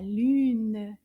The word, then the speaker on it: lune: It's the moon, la lune. Lune, lune. Combien de syllabes dans le mot lune? Lune. Une syllabe, lune.